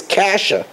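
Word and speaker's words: cassia: Kitzia is kasha. That's the way to pronounce C-A-S-S-I-A, which is one of the Keteiras. It's pronounced Kasha.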